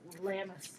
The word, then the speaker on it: Lammas: It's lammas. Lammas. I thought so. Yeah, lammas. So it's like ram or ham and then us.